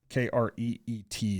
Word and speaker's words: Crete: Kreet is how it's pronounced. It's spelled Crete, but it's pronounced Kreet.